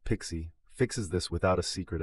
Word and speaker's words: PKCE: PKCE, pronounced Pixie, fixes this without a secret at all.